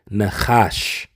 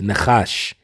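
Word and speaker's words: נחש: word in the Hebrew and that word is pronounced in the Hebrew Nash okay it's Nash and when you go into this word Nash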